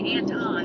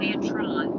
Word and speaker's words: Antron: supposed to be there I keep want to say Anton and not Antron that's very hard uh